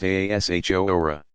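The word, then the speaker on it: Ashura: fest on the 10th of the month akira pronounced Aasha hora possibly paralleling the Jewish practice of fasting on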